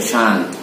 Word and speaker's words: shan't: Kalau di sini, kalau negatifnya dibaca shan't, bukan anak Ashanti ya.